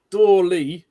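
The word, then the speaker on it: Doorly: been fantastic um apparently it's it's dly but it's spelled D o o r l y and he's actually picture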